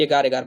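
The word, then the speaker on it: agar: तो देखिए sorry एगर एग दिया है लेकिन इसका सही उच्चारण करते हैं तो एगार एगार बोलते हैं।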